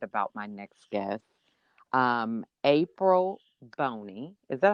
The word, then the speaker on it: Bonney: I'm so excited about my next guest, April Bonney. Is that how I pronounce it? Is that the right? It's Bonney, Bonney. like a Okay. girl's name.